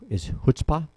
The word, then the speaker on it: chutzpah: But I'm just amazed at his chutzpah.